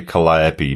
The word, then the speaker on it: Calliope: Main learning point, pronounced Calliope, not Calliope.